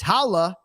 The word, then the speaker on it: Valle: And I was actually going to come on here and say it's Valle, right?